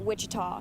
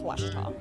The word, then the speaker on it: Ouachita: university back in texas everybody pronounces it wichita but really it's ouachita washington baptist university get